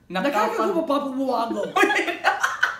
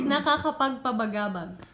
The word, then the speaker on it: nakakapagpabagabag: See, he can't even pronounce it well. I think he's meaning to say, nakakapagpabagabag. Ayun! Nakakapagpapabuwago. Nakakapagpapabuwago. Nakakapagpabagabag. Nakakapagpabagabag. Okay, one more. Okay, one more. Nakapagpabagabagabag. Napakabagabag.